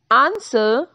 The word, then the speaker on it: answer: W is silent in the following words: who, whose, whole, whom, whoever, answer, sought, to.